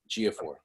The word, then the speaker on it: Ejiofor: Ejiofor.